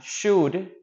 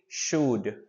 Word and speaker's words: should: pronounce should incorrectly uh should as you can see here or listen the L doesn't sound so you will say should should should well you know our